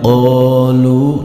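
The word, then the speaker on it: قالوا: Berikutnya pada lafaz qalu. Nah, di sini pada huruf qaf ada alifnya, di mana huruf qaf ini berharokat fathah. Maka huruf qaf di sini termasuk bacaan mad tabi'i. Panjang bacaan mad tabi'i 2 harokat.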